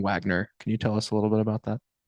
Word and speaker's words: Wegner: I don't really ever say anything about it because I hear both all the time and it makes zero sense why we do pronounce it Wagner.